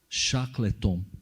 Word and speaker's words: Shackleton: assinado pelo conhecido explorador do ártico ser Ernest Shackleton que é assim que se pronuncia considerado um herói tendo sido inclusive condecorado